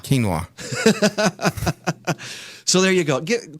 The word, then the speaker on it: quinoa: that hard to find it's spelled weird it's quu i n o a of course it is quinoa quinoa so there you go